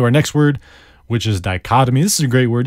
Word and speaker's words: dichotomy: like that so the dichotomy is a good word to know it is spelled di CH OT o my dichotomy di Oh T oh my die cut imme it's a noun and